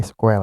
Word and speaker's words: SQL: kita akan membahas tentang SQL atau biasa dikatakan sebagai squel ya tapi di sini kita akan mengatakannya sebagai Escape saja agar kita lebih mudah dalam pengucapan Nah jadi SQL ini